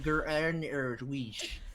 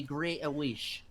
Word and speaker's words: Greenwich: Actually, guys, it's pronounced Greenwich. No, If you do the Dutch, it'd be Greenwich.